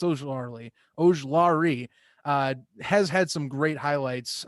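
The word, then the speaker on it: Ojulari: And honestly, Ojlari, and I keep saying it wrong, it's Ojlari, has had some great highlights.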